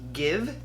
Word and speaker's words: Gxve: I picked up the liquid lipstick, and I believe the brand is pronounced Gxve.